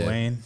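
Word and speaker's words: Duane: Yeah, Dwayne.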